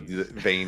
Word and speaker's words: Vayne: There's no V in Korean, so Vayne is technically pronounced as Bane.